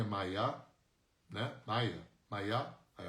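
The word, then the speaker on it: Maya: Mayá, aí a pronúncia correta é Mayá.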